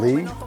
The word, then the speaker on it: Lea: My name is Lee, L-E-A, like rhymes with cup of tea.